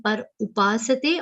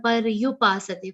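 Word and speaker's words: पर्युपासते: Here everybody should check their pronunciation, whether it is coming par upasate or paryupasate. For many people it becomes u instead of u.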